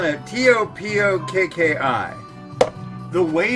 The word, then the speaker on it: Topokki: It's Topokki. Topokki. Topokki. So, it's a cross between a D and a T. It's what they call a soft T. It's like T, D.